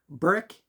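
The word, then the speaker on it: Berwick: I think we're going to go up the road to another town called Burwick, Burick as locals say, and go check out some stores and different places down there.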